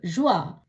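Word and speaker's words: joie: ஜி ஓ இ எ, ஜுவா, மகிழ்ச்சி.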